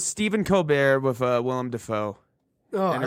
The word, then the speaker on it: Dafoe: little bit smoother smoother yeah but he pronounced his name in in that video as willem daffo dapho oh no and conan just talked about